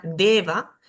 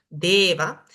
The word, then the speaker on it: deva: Acá tengo la palabra deva, deva. La E siempre es larga y esta va luego de una vocal suena como la B, deva.